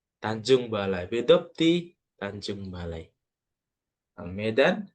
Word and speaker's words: Medan: Medan, bukan kita meskipun tulisannya Midan, ya, tapi cara cara bacanya tetap Ana min Medan.